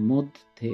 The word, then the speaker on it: মধ্যে: প্রমিত রূপ হবে মধ্যে এবং উচ্চারণটা হবে দেখো ময়কার দয় হসন থ আছে এবং ধকার মানে মধ্যে উচ্চারণটা লিখে দেওয়া আছে